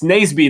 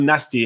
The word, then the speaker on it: Naseby: It's Naseby, not nasty, and you forgot an E.